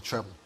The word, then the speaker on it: treble: Trible is with with an I and a P L E, but we call it the treble.